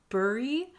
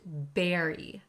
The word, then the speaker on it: bury: first word looks like bur but it's pronounced berry berry one's head in the